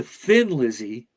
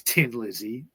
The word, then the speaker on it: Thin Lizzy: Thin Lizzy yeah because if you have an Irish accent you're kind of say Thin Lizzy when you so they they said let's add an H to it so people say it right okay so for some ear some of their early gigs uh the band were mistakenly promoted as Tin Lizzy or tin like Li